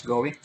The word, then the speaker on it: GUI: We're talking about GUI, then it pronounced as GOEE.